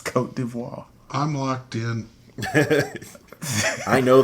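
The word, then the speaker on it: Côte d'Ivoire: a fancy pants no no name anymore it's cote d'ivoire i'm locked in i know they changed it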